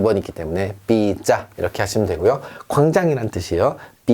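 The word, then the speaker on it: pizza: 자, 이건 우리가 좋아하는 삐짜, 삐짜, 삐짜 이렇게 안 하고요. 삐짜라고 하는 이유는 자, 제따, 제따 두 번이기 때문에 삐짜 이렇게 하시면 되고요.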